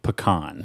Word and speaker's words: pecan: who's from Alabama yeah say pecan okay like P apostrophe k-h-a-n yes okay yeah yeah yeah what